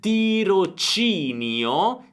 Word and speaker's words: tirocinio: Tra pochi abbiamo CHI perché abbiamo un suono duro, quindi pochi giorni partirà, l'accento sulla A, per fare un tirocinio, tiro C, suono debole, CI, all'ESA.